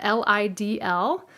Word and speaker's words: Lidl: in your local area l-i-d-l I thought it was pronounced Lytle but it's pronounced Lidl anyways he brought these